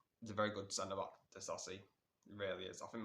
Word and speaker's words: Disasi: Next player, confirmed, Disasi, that's how you say his name, to Chelsea.